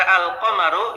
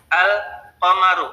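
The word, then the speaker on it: القمر: qamaru lam pada kata alqamaru ini zhar atau idgham izhar ya alqamaru karena lamnya dibaca dengan jelas ya Tapi pada kalimat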